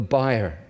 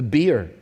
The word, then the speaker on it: bier: David, you can see, takes his place: “David followed the bier.” I stumbled over that word this morning, because I think Americans pronounce it “the beer.”